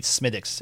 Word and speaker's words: Smithwick's: But we went to Smithwick's, and it's Smithwick's, but the interesting thing we learned in the Irish dialect, they don't really say the TH. They pronounce it like a D.